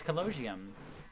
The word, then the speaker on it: Colosseum: Never have heard in my potato field ears someone pronounce Colosseum so wrong. Colosseum. It's Colosseum.